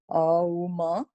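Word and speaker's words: ॐ: Om is 3 parts. Auma. So we're going to do 75% O and then 25% Ma. Om.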